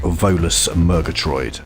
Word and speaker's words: Volus Murgatroyd: From Dallas, Cygnus, talking about his track Volus Murgatroyd. Yeah, I'm glad you could pronounce that. You pronounced it perfectly.